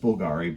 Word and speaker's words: Bvlgari: italianized the name to Bulgari and used the Latin letter V which was sounded as the U in our uh in our alphabet so thus Bulgari with a V it's pronounced Bulgari but it's just sort